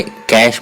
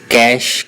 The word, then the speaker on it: cache: Detail में वो कहता है कि कैश मेमोरी को जो वो कैसे प्रोनाउंस किया जाता है, उसको कैश के नाम से प्रोनाउंस किया जाता है।